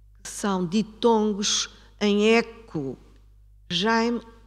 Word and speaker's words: Jaime: Jaime, o ditongo ai, tem um eco. E um eco que é quase consonântico.